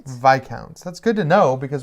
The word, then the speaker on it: Viscounts: that they'll say the name again but it's vi counts oh it's called hey sorry you're right it